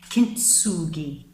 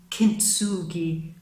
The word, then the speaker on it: kintsugi: I mean, if you look at the Japanese art of kintsugi, yeah, I'm pronouncing that right, I think.